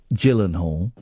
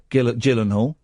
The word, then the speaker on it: Gyllenhaal: Cuz he had he had two quirks as a copper Gyllenhaal and is a soft G like Jif.